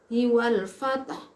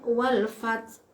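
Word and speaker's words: والفتح: Tapi kalau dibaca idza jaa nasrullahi wal fath, haknya masih ada, wal fath. Kalau dibaca wal fath, haknya hilang. Berarti itu sama dengan menghilangkan satu huruf dari ayat Al-Qur'an.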